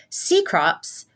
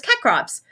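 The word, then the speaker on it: Cecrops: on, and so like I'm seeing it before I hear anyone say his name, and I'm like, oh, it's Kekrops. Seacrops, you say.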